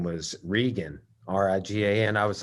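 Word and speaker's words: Rigan: girl her name was regan r-i-g-a and i was like you mean hegan like the machados right i said brazilian spelling or is it the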